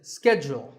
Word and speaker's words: schedule: in American English this is scheduled the first syllable is skipped and the second is jewel schedule in British English it